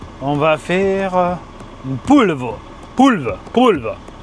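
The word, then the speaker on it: polvo: Poulve. C'est ça qui se prononce comme ça en portugais.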